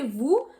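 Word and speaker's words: vous: normally when you say Vu we don't really pronounce the S but because the next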